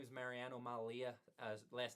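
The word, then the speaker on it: Mallia: thank you and uh my name is Mariano Malia last name is spelled m a l l i a uh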